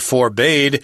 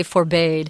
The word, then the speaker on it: forbade: uh looking this up I've actually heard it pronounced forbad too and it's correct but we we recommend you say forbade so they didn't let